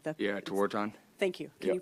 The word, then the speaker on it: Tewaaraton: Yeah, Tewaaraton. Thank you. Can Yep. you pronounce it one more time? Tewaaraton.